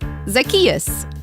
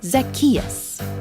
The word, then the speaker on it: Zacchaeus: zach cha ooze how is anyone supposed to pronounce that uh like this zacchaeus zack chachusa no what no it's like zach just say it after me zacchaeus zackarecka dingdong all right now you're just trying